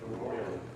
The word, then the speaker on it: arroyo: Arroyo.